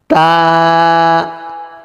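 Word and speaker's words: ت: হয়ে যায় বা বা তা জিহ্বার আগা সামনের উপরের দুই দাঁতের গোড়ার সাথে লাগবে মুখ খুলে উচ্চারণ করবে এক আলিফ টান হবে তা জিহ্বা আগা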